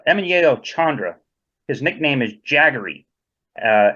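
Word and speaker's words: Jagari: Chandra his nickname is jaggery uh it's spelled j-a-g-a-r-i but spell or pronounced jaggery as in he was a big fan of Mick Jagger yeah I'd like to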